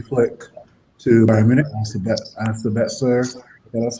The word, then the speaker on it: Sabitzer: As you guys mentioned, they just lost Hansi Flick to Bayern Munich, and Sabitzer, that's how you pronounce his name, to Bayern Munich as well too, right?